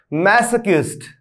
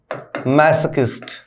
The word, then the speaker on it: masochist: थोड़ा सा उच्चारण की तरफ ध्यान देंगे। यूं समझ लीजिए, यदि आपको फोनेटिक्स नहीं रास आ रही है तो मैसोकिस्ट। ठीक है, इसमें मैसोकिस्ट इस प्रकार से मत पढ़िएगा, मैसोकिस्ट।